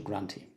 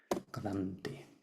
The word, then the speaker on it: Granthi: And the last one is the Rudra Granthi. I made a mistake here. Granthi.